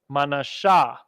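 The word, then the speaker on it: מנשה: Ricans yum aparayam all right Vanessa the Cubans manasha again we just went over Gad Gad is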